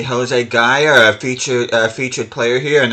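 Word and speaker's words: Gayà: I think I'm putting the emphasis on the wrong syllable in his name. Yeah, I think it's Gaia, not Gaia.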